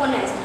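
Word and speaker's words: honest: When we pronounce these two words H is silent. जब हम आवर और ऑनेस्ट इन दोनों वर्ड को प्रोनाउंस करते हैं तो इसमें एच साइलेंट रहता है.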